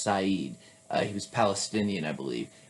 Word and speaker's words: Said: necessary but edward syed s-a-i-d it's not pronounced said it's pronounced saeed he was palestinian i